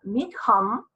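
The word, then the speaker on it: Mitcham: Mi esposo dice que se pronuncia Meacham, porque es escocés el origen del nombre, mi esposo es genetista,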